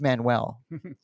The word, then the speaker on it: Manuel: I I'm the only one pronouncing his name right by the way. It is Manuel.